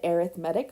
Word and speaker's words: arithmetic: And I know it's spelled arithmetic, but it's said arithmetic when we're talking about sequences.